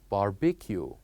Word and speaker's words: barbecue: ends with the word the we it is pronounced as barbecue barbecue so here we have the cube barbecue